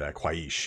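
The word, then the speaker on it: Qhaysh: magic or as um I would pronounce it a quish it's very difficult to pronounce here it's q h a y s and the really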